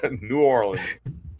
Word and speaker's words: New Orleans: That's how we say it. Any other way is wrong. New Orleans.